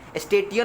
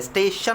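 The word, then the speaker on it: station: और अगर TI रहता है, स्टेशन, TI बीच में है, TI अगर बीच में रहता है वर्ड्स के तो वो भी SH का प्रोनाउंसिएशन देता है। ओके स्टेशन SH का प्रोनाउंसिएशन है, TI का नहीं देता है। स्टेटियन नहीं बोल रहा है हम लोग, स्टेटियन ये नहीं होता है, स्टेशन होता है।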